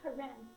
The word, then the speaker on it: Karen: Pozabil sem, Koran. It's like the lady's name Karen, only the last syllable, Karen.